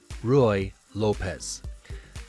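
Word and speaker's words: Ruy López: those who are just listening to the audio that's spelled r u y space l o p e z Roy Lopez not to be confused with Jennifer Lopez but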